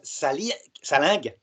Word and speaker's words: Salingue: Et avec Guillaume Salingue, ça se prononce comme ça, c'est compliqué à prononcer, nous avons décidé de faire une vidéo sur le célibat des prêtres.